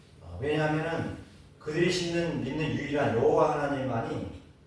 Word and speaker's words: 여호와: 이거는 아 유대인들이 말하는 그런 하나님께 여호와 하나님 그들이 말하는 어 여호와 우리가 발음할 때 여호와라고 원래 발음할 수 없지만에 모음을 붙여서 여호와라 그러죠.